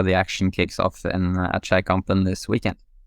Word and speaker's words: Skeikampen: Okay, so my pronunciation was pretty far off. It wasn't too bad, but it's Skei to begin with instead of ski. Skeikampen. Okay, so there's barely a K to a silent K.